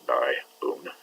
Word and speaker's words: dione: And this two-vowel system IO is pronounced IO. So dione.